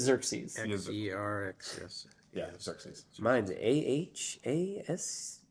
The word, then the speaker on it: Xerxes: But it's Xerxes.